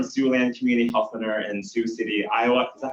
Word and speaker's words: Sioux City: He's from Siouxland Community Health Center in Sioux City, Iowa. Is that how you pronounce it? Sioux City, thank you for the validation.